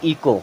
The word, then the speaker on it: echo: ECHO, इसे पढ़ते हैं इको। क्या पढ़ेंगे? इको। यहाँ भी एच साइलेंट होता है, इसे पढ़ेंगे इको।